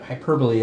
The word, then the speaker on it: hyperbole: You put the wrong emphasis on the wrong syllable.